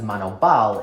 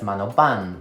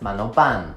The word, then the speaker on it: Manoban: it sounded really weird her last name is actually pronounced as mano ban with an n sound this is because in